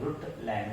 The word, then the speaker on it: Brundtland: ब्रुटलैंड में N silent है, एन और डी दोनों साइलेंट है, ब्रुटलैंड बोला जाता है।